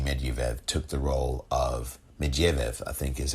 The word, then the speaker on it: Medvedev: And he took the prime minister role while Dmitry Medvedev took the role of Medvedev, I think is how you pronounce it.